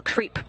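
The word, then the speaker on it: KREEP: they have a weird component that we call creep and it's spelled k r e e p and Central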